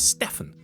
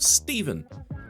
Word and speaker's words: Stefan: Then there's some more transfer movement and Stephen Bacitic, forget the pronunciation of the surname, his first name is Stefan, not Stephen.